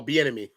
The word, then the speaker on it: Bieniemy: Pronounce his last name for me, too. The offensive coordinator. Oh, Bieniemy.